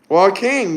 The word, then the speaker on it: Joaquin: Joaquin, that's his name. That's how you pronounce it.